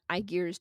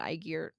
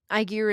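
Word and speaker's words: Ægir: to a party in iar's domain I that's not how you pronounce it I know I was a Latin kid I pronounce it aigar TMI aigar is the god of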